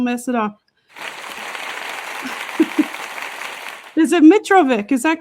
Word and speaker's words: Mitrovic: Is it Mitravik? Is that correct? Mitravic is the anglicized version. Mitravich is the ethnic version, but the Australians didn't know how to pronounce it.